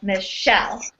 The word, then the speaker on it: Michelle: An iamb means one unstressed syllable followed by a stressed syllable. So an example of this would be the name Michelle. So Michelle is how you would say that.